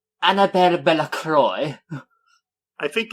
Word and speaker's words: Bellacroix: No, you see, Croix is how English-speaking people often mistake pronouncing. Yeah, it's supposed to be Bella Croix.